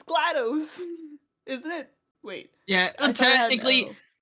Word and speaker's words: GLaDOS: i would say it's glados isn't it wait yeah technically yeah she does technically speaking yeah it would be pronounced glados but i mean it's it goes too well with gladys so it's like whatever